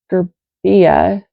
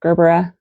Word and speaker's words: Gerbera: I'm like Gerbia. No, Gerbera. Okay.